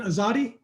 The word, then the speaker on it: Azadi: got in the air is that the correct pronunciation azadi you said it right good job right on